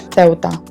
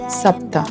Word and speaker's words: Ceuta: And how we pronounce it correctly in English will be pronounced as Ceuta, in Spanish Ceuta, and in Moroccan Arabic Sabta. Ceuta lies about 17 km